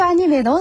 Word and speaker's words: アニメ: 네, 우리는 애니메이션 이렇게 길게 말하는데 일본에서는 아니메 이렇게 짧게 말을 합니다.